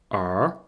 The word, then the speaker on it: 儿: Et cette forme-là, c'est aussi un caractère qu'on trouve parfois seul et qui se prononce R.